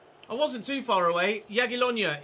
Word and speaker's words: Jagiellonia: Jagiellonia is how you pronounce the name of our opponents for our first ever Polish Ekstraklasa game.